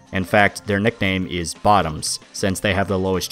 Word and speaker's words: VOTOMS: a whole Army of bottoms waiting to take the Hot Load the others are too scared of and yes the pronunciation of bottoms is intentional it's supposed to be a dark pun well the protagonist of